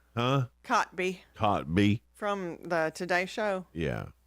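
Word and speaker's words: Kotb: Cotby.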